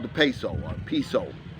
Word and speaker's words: peso: currency in the philippines it's called the peso or they pronounce it piso and right now the